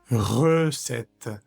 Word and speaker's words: recette: Le lar second parfaut le l fait partie de la français de la recette recette. Si separamos esta palabra por sílabas, la primera sílaba queda re y luego sets y luego t, como partida en tres.